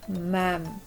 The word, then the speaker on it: ma'am: Lalu kalau untuk perempuan, ma'am, tulisannya ma'am, bacanya agak seperti E gitu, ma'am.